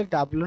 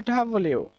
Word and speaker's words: W: আর এটাকে আমরা ডাবলু বলে থাকি, সাধারণত ডাবলু নয়, এটা হচ্ছে ডাবল ইউ।